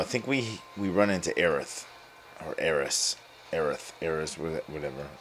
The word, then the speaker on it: Aerith: we we run into aerith or heiress aerith errors whatever um they do call her eryth in here so they go with the japanese pronunciation reach sector